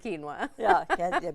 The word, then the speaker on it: quinoa: So many fun ways to pronounce the word quinoa.